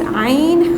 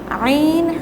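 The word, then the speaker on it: ع: Here 2 letters are pronounced from the middle portion of the throat.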